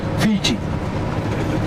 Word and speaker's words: Fiji: name called Viti, and they pronounced the word Viti as fishy. So through the Polynesians, then came the Europeans, and they came to know the island's called Fiji, and they pronounce it as Fiji.